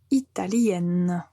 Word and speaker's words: italienne: nasal et au féminin on va clairement prononcer la lettre N parce qu'il n'y a pas de nasal donc on dit italienne il est italien et